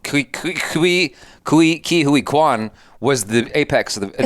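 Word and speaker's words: Ke Huy Quan: Ki Hui Kwan.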